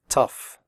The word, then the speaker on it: tough: oh ugh in tough is pronounced off like in stuff tough recipe if you have